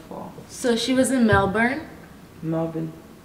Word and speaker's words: Melbourne: So she was in Melbourne.